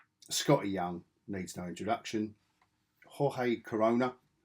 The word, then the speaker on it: Jorge: Jorge Corona. I've got his name, the pronunciation of his name right. Otherwise, it's George.